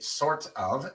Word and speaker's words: sort of: Cuando pegamos estas dos palabras, tenemos la T entre una R y una vocal al principio de una sílaba no acentuada. Así que en lugar de sort of decimos sort of.